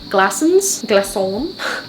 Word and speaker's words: Glaçons: I've always said Glaçons, but apparently it's Glaçons. It's kind of like French.